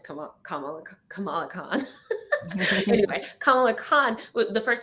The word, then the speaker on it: Kamala: excited the first time let me say her name right, because I'm always like Kamala. Great, I said it right. Kamala, not Kamala. Kamala is Kamala Harris, just and Kamala is Kamala Khan.